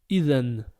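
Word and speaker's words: إذن: Deuxième exemple, on a le dal avec le A, donc dha. À côté, le nun avec la soukoun, donc n. Ça nous donne le mot idhan.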